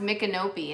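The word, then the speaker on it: Micanopy: um wings clothes like open and closed it's pronounced mikanopi and it was named after a chief a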